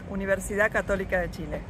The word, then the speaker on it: Universidad Católica de Chile: I'm not bold enough to do that, but how would you pronounce that, Patricia? I'm a professor at Universidad Católica de Chile.